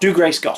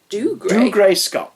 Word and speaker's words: Dougray Scott: Dougray Scott. Dougray? Dougray Scott.